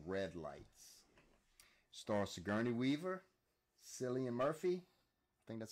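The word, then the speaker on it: Cillian Murphy: 2012 it's called red lights star sigy Weaver slian Murphy that's how you say his name and uh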